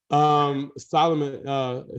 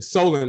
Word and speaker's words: Solon: Solomon, Solon, I got to make sure I pronounce his name right.